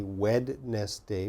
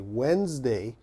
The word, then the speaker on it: Wednesday: one Wednesday okay so Wednesday has a D in the spelling there's a d but of course we don't say wedness day we say Wednesday so lots of students